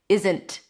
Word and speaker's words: isn't: You don't have to hold the T here. And there are a lot of native speakers who actually pronounce it like that. Isn't.